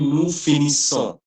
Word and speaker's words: nous finissons: So the pronunciation will be nous finissons, right? Finisso. Nous finissons. No finisso. Nous finissons. The last S will be silent, but that ON, that N is a nasal sound. So it's finissons. Nous finissons.